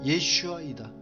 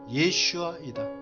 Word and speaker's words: 예슈아: 그 히브리어 단어는 도움과 구원에 동일하게 쓰인 히브리 단어 예슈아이다. 이 발음은 예수님이 히브리어 이름과 같다. 하나님께서 가브리엘 천사를 통하여 지어주신 예수님의 올바른 히브리어 이름과 발음은 예슈아이다.